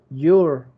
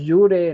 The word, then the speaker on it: you're: Ojo, se pronuncian igual. Your, los dos. Your. El otro no es yure, no es your, igual. Your. Como si fuera la Y-U-R.